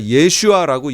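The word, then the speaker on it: ישוע: 그 다음에 예수도 예수가 아니라 예슈아라고 얘기하는 것이 더 가까운 거예요.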